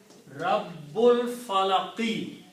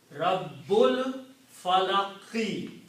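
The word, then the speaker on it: رَبِّ الْفَلَقِ: So when you read them together, you do not pronounce this alif. Rabbul Falaqi. Very important to correctly pronounce Rabbul Falaqi.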